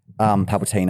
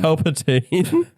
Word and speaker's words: Palpatine: She's basically Palpatine, like Palpatine, I should say. I pronounced that wrong. Palpatine.